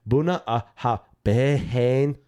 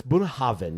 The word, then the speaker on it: Bunnahabhain: If you look at the bottle here in America, it looks like it's Bunnahabhain. But it's Bunnahabhain. You got to have a V in there.